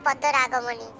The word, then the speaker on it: পদ্মরাগমণি: পারবো না না না কেটে কেটে উচ্চারণ করো ঠিকই পারবে আচ্ছা আমি বলছি তুমি বলো বলো পদ্ম পদ্ম রাগ রাগ মনি মনি তবে এবার একসাথে বলো